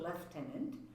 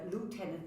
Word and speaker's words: lieutenant: left tenant governor and we pronounce it leftenant uh Lieutenant is American and we go with the British pronunciation so in French and